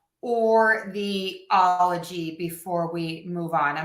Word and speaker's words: -ology: The tricky bit here is that the stress is going to go on the all.